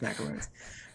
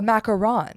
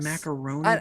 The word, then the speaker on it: macaron: love macaroons but so it's not a macaroon it's a what is it uh a macaron it's one o the little sandwichy thing like macaroni but macaron but i swear they've